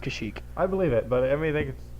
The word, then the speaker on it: Kashyyyk: It's pronounced Kashyyyk.